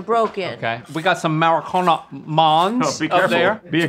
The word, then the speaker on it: Marcona: We got some Maracona Mons up careful. There. Be careful. It's pronounced Maracona.